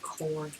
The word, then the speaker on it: corps: I've got so many corps. Also, that's easy to pronounce core.